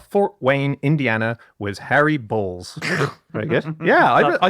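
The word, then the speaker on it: Baals: b a a LS the pronunciation is that because he was once on a radio show with a guy called Bob Chase who wasn't quite sure what to say in the moment and so he pronounced the mayor's name Bales so he said mayor Bales is with us and uh and he called him on it and he said son this is your mayor I pronounced my name balls so he was very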